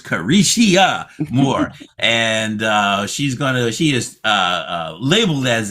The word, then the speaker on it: Careshia: That's with 4 syllables, Careshia Moore.